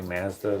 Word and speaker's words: Mazda: Canadians say Mazda the way they say pasta. Noted. Oh, you guys say Mazda? You guys say it wrong?